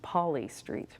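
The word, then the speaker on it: Poli Street: museum of Ventura County they tell me it's pronounced Poly Street I think hearing them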